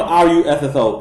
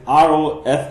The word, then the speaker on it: Rossouw: No, it's not Russo. It's Rossouw, something like that.